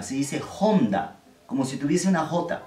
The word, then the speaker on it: Honda: el logo más y está h si se pronuncia de qué manera como se ofrece una jota del español por ejemplo esta marca de acá en español de honda no pero no se dice onda se dice onda como